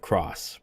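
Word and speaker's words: Krauss: So his name is pronounced Kraus. I am not gonna be doing that. Oh my god, I'm gonna stick with Cross, but okay, cool.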